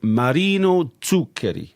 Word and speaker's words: Zuccheri: So yes so we're going to look at a piece by Marino Tuker. That's a very good pronunciation.